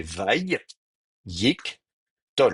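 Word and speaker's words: וַיִּקְטֹל: Et donc, dans le découpage en syllabes, ça fait Vaï, Yik, Tol. Vous voyez, si je l'écris en translittération, ça vous fait Vaï. Alors, Vaï, comment je vais faire ça? Euh, Yik, Tol. Alors, hop, mettre des traits d'union peut-être. Vaï, Yik, Tol. Donc, vous avez en fait ici trois syllabes fermées.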